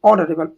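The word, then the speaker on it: honourable: ऑडरेबल ऑर्डरेबल एच क्या है? Silent है। एच साइलेंट है।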